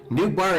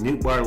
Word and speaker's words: Nootbaar: It is Nootbaar like in Ohtani, the pronunciation is Dutch.